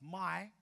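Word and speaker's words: 买: The word for buy in Mandarin is pronounced my.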